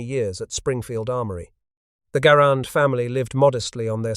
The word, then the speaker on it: Garand: Garon, a farmer who struggled to provide for his large family in the harsh Quebec climate. His last name rhymed with errand, not grand, a pronunciation confirmed by